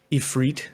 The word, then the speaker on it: Ifrit: which ones you get it's eph freit as they pronounce it in this game uh is your main